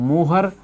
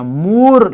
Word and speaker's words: Mohr: तो ferrous ammonium sulphate, जिसको हम मोहर या मूर लवण, स्पेलिंग आप देख लेना, MOHR के रूप में लिखी गई है। मूर लवण या मोहर लवण, आप जो भी उच्चारण करें सही है, मूर लवण कहते हैं,